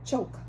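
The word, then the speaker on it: Chock: her oneon-one was with choke Chuck Chuck but it's spelled like c h o c k but yes Chuck Chu so um she told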